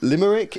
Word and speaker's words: Limerick: When she called it Limerick. Yeah, Limerick. And then she was like, apparently it's pronounced Limerick in Irish.